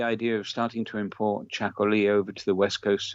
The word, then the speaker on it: txakoli: And then the Basque Country produces its own special sort of wine, which is called Chacoli, which is spelt in a very Basque way. It's a Txakoli.